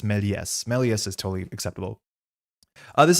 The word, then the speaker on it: Méliès: That being said, I'm pretty sure this S is pronounced because there's the E accent grave in front of it. So this will be pronounced Méliès, which is cool. That's not that hard to do. But yeah, it's not Melius, it's Méliès.